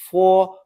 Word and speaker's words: fo: After 4, it's pronounced as 4, putting a quick u before o. But we write 4.